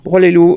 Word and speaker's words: Broye-les-Loups: Avec ce beau soleil, donc je le prononce bien, nous sommes à Broye-les-Loups, c'est bien cela? Tout à fait. Broye-les-Loups et la commune, ça s'appelle la Broye-les-Loups et Verfontaine.